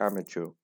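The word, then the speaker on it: amateur: ये इसकी प्रोनाउंसिएशन होती है एमेच्योर।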